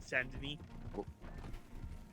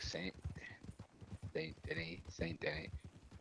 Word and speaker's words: Denis: His name is spelt the same way, but it's pronounced Denis. Oh wow. En français.